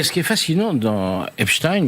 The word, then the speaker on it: Epstein: Ce qui est fascinant dans Epstein ou Epstein, je prononce comme Einstein ou Frankenstein, désolé, le c'est sa capacité à mouiller tout le monde.